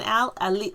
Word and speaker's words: Alix: going yeah so when al ali oh sorry not leaks when she says her name she elite yes over pronounces a-l-i-x though that's not the